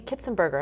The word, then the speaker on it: Kitzenberger: photography for rescue kitties and other things kitzenberger am I pronouncing it right yes perfect I love that